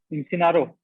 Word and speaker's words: Imsennaro: Imsennaro. Yes, I'm sir.